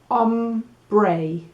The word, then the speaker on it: hombre: pronunciacion it's a woman i'm going to write down mujer "moohair" right so i know how to say it okay so that's el